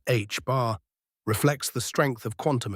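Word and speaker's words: ħ: The second constant H bar, pronounced H bar, reflects the strength of quantum effects.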